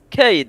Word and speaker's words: قايد: I think your K was soft when you said it. You're like Cade. Gade. Bro, it's an Arab word. It's an Arab word. You didn't pronounce the K, you were like Gade.